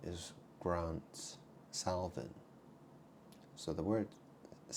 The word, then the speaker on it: Salvin: Well, my name is Grant Salvin. So the word is spelled S-A-L-V-I-N. So you think about that name, right? Salvin. Well, sal, salt, and vin, wine.